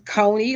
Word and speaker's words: Coney: it and i do i would say it's coney like coney island like cheese coney if you're that's what